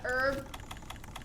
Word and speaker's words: herb: herb to save us i know it's herb sometimes people go herb let's be honest how many of you guys pronounce the h when you were a kid because you didn't know it was a silent h so herb became herb we got herb to